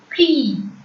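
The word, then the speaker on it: quille: Next, Q-U-I-L-L-E, Qui. Qui. I-L-L-E in French is pronounced as E. So, Qui.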